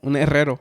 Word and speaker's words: herrero: Yeah, un herrero. Uh-huh. Yeah. It has a double R on it, so you have to triple R, but it has a syllable where it has those R.